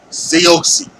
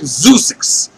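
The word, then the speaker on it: Zeuxis: that I can say, because it looks like Zeusix. It's Zeusix. That's how it's spelled, but it's Seoxy.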